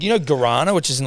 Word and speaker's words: guarana: that like you know guarana which is in like energy drinks and I heard someone pronounce that as like Quran yeah or something and I